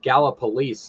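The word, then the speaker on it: Gallipolis: that bridge connects um is gallopolis is the way it's pron pronounced I know uh West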